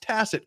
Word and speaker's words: tacit: Grounds, tacket. Hey, he learned to pronounce tacit correctly today.